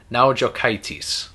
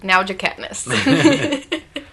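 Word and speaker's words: Naujokaitis: week let's see if they know how to pronounce it n a u j o k AI t i s now jitis that's what it is that's now jates so this follows the the story of the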